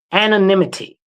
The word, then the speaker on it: anonymity: There's no um an anonymity anim anonymatization cuz whatever that other word is. Apparently my brain doesn't want to pronounce it right. Anonymity.